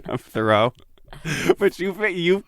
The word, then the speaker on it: Thoreau: to get words out so i say henry david throw just throwing out the words probably not the words and i uh i get that it's pronounced thoreau it's yeah i mean